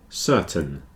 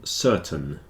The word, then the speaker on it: certain: continue curtain and certain the AI sounds a bit like e in these two words curtain certain the reason is the stress is on the first syllable so the second syllable tends to get contracted down a bit and in this case it's a little bit like an e curtain certon whereas these two captain